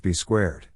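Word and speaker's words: B²: Cena was eventually joined by an enforcer, Bull Buchanan, who was rechristened to B2, Also written B squared and pronounced B squared.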